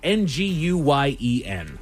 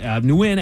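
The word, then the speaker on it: Nguyen: N guen when that's the way that I always knew it when I was a kid.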